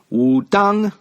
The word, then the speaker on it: Wudang: style in Chinese was called Wu Tang Shen Wu dong in the old way jail system of writing Chinese is spelled w u ta ng and those two